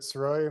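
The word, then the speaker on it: Sirois: the record yes sir my name is saroy my last name is spelled s-i-r-o-i-s what is your current occupation I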